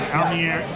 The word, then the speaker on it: Almereyda: It's directed by Michael Almereyda. I think it's Almereyda. Thank you, Almereyda.